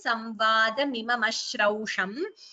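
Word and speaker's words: संवादमिमम् अश्रौषम्: Note the pronunciation, Samvadamimam Ashrausham.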